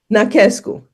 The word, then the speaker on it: Nachescu: And how do you pronounce your last name? Nachescu. Nachescu.